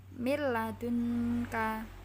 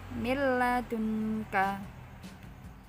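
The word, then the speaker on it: مِن لَّدُنكَ: Contoh, mil ladunka, nggak boleh mil, nggak boleh seperti itu, langsung mil ladunka.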